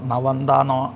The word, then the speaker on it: നവന്ത: അപ്പോൾ അങ്കിരസ എന്ന് കഴിഞ്ഞ് അങ്ങനെ ഈ തിയറി അറിയാത്തവർക്ക് സംശയമാവാം, നവന്താന്നോ ആണോ അനവന്താന്നോ എന്ന്. അപ്പോൾ പക്ഷെ നവന്ത എന്നാണ് അവിടെ ഉച്ചാരണം. അപ്പോൾ അത് നവന്ത എന്നേ ഉള്ളൂ.